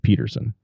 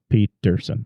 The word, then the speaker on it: Petersen: Victor Nissen and then you really pronounce the d and Peterson Pete ton Peterson all right yeah very